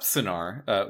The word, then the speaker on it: Sennaar: Yeah, if you look up Sinar, which is spelled Sennaar, which is not what you would assume, right?